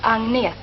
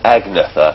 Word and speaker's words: Agnetha: Is it how do you you're pronouncing Agneta? Is that right? My name is Agneta. Agneta. There's me saying Agnatha and things like that.